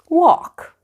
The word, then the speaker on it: walk: at those words written as you can see the letter L in them is silent let's practice pronunciation walk let's go for a